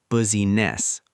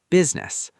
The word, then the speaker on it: business: For business, we don't say busyness, we say business.